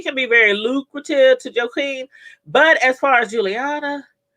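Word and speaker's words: Joaquín: Because Rock and, Joaquin, I think she called it, that's how it's pronounced, Joaquin, will most likely start doing business together, so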